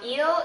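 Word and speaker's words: ils: plural and L plural notice that these are pronounced the same eel eel l l um for eel it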